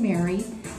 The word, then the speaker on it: Meagher: me a youtube channel so we have a mary kay channel on youtube fantastic um how many